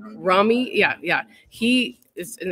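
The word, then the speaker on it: Rumi: it is and like roomy and I'm saying his name wrong because that's not how you say it the poet how do you say it Ramy Ramy yeah yeah he is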